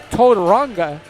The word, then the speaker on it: Tauranga: Bazant he told me how to say the name yesterday, Tauranga. It's kind of a hard R.